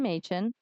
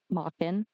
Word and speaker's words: Machen: Either way, when the police arrived, they found Sarah, her halfb brotherther, Brandon Machan Mockin. I have to report both cuz they're both pronounced on Google.